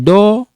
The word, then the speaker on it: dort: Il dort. You don't pronounce this.